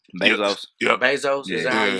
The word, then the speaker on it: Bezos: shop with me I mean like I'm Jeff benzos mm-hmm or am I saying his name wrong because of your Bezos you say something he said to me stuck